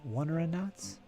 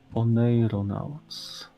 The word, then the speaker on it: oneironauts: Wonderonauts? Wonderonauts? Dream travelers. Oneironauts. Oneiros is dream in Greek, I think.